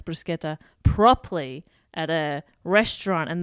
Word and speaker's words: bruschetta: head couldn't tell you it's ch in Italian is kur yep and just C by itself as a church sound yeah so it's very confusing and every time I pronounce bruschetta properly at a restaurant